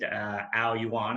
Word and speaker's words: Aoyuan: The name Aoyuan, incidentally translated, Aoyuan, and that's how it's pronounced, translates as Olympic Garden.